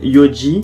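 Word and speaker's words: 四時: Ensuite quand c'est 4 ça se dit yo, donc enfin ça se dit yon mais du coup c'est yo il me semble. La prononciation elle change un petit peu quand c'est heure, donc ça va faire gozen yoji.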